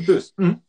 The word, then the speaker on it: Boos: Wie wird sie ausgesprochen? Bös. Boos. Die Bös.